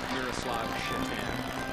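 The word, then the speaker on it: Miroslav Šatan: Now we're happy to report that you don't pronounce names the same. Because I'd have a hard time doing play-by-play with that name if it was the North American pronunciation. It is Miroslav Shatan.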